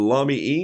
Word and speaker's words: Lamy: the lobby pin here mommy as john robert small would say rhymes with mommy and so that's the pen it's just uh dark ink it's the lamy ink i'm not using